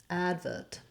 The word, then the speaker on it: advert: call it an advert advert in which case they do stress that first syllable in the two-syllable version